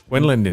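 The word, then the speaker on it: Wendlandt: The T and the D are silent. Wendland.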